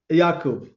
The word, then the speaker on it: Yacoub: Yakob. Yakob.